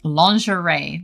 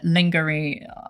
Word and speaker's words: lingerie: It's a French word. It's pronounced lingerie. There you go. Good luck, Chisu. But obviously, lasagny and and uh lingery.